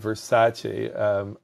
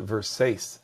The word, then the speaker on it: Versace: would be the brand versace um some people will pronounce it verse and every time they